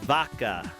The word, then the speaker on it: vaca: It's a V. However, V. in Portuguese, B's and V's are pronounced a little bit closer than in English.